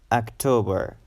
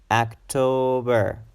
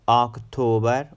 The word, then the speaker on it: October: of the year is October October October it's a three syllable word October and the stress is in the second syllable and it should be